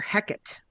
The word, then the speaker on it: Hecate: of his writing and we can tell from the way that he rhymed that he pronounced it heate or heckit without the e sound at the end so you might run into a theater kid who absolutely pronounces it Becket and before you ridicule them just remember William Shakespeare himself pronounced it that way he was around before